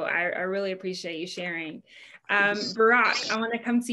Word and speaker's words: Burak: Burak, I want to come to you next, and keep me honest on pronunciation. Hi, it's perfect. It's like Obama. It's really similar to the pronunciation.